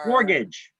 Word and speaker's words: mortgage: that how it's pronounced mortgages mort gadges gauges mortgage a more a mortgage it's like the t is silent mortgage all right so